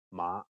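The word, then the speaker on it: 馬: totally bizarre to you in Cantonese pitch accent is super important that's right a word's meaning could be different depending on the tone that's pronounced you definitely don't want to mix up mother and horse for instance yes that will be a funny mistake in Cantonese mother is ma and horse is ma imagine someone introducing his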